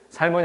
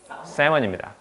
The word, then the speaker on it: salmon: 사장님, 살몬이 아니고요. 세먼입니다. 사장님, 여기서 L은 묵음입니다.